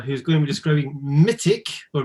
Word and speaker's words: Mitiq: everyone for joining we we accept all pronunciations i guess uh i say mythic uh so this is